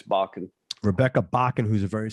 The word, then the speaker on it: Bakken: white band tom jones rebecca bockett bakken or bacon how do you pronounce that it's bakken rebecca bakken who's a very successful uh norwegian